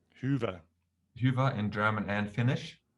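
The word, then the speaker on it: Hyvä: But it comes easy to Germans because we have the Ü, the umlauts, Ü, Ä, Ö. So Hyva, Hyva. Hyva. Hyva. Okay. Hyva. That's Hyva.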